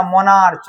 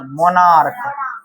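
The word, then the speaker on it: monarch: जब सी एच का उच्चारण क्या हो? को क्या हो? क तब उसमें सिर्फ एस लगता है। जैसे इसको क्या पढ़ते हैं? स्टोमेच या स्टोमेक। स्टोमेक इसको क्या पढ़ते हैं? मोनार्क या मोनार्च? मोनार्क मोनार्क पढ़ते हैं।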